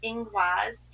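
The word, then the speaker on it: Ingwaz: Um, now we have the runes pronounced inguaz.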